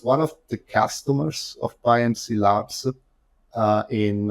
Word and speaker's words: PyMC Labs: PyMC Labs.